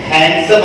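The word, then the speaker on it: handsome: हैंडसम हम लोग इसको बोलते हैं, लेकिन इसमें डी जो है वो साइलेंट है।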